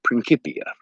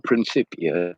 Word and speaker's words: Principia: Roman camp just be called Principia or Principia depend on how you want to pronounce it because Latin is a dead language nobody really knows how it was actually spoken the acts think it's